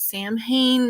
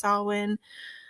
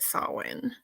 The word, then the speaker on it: Samhain: be talking about that a lot of people pronounce it Sam Hayne that's not how you pronounce it it is pronounced salwin um I guess you